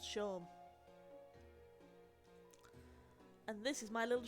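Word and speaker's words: Seam: have been using one swear the name's Shawn pronounced Shawn and this is my little shop over the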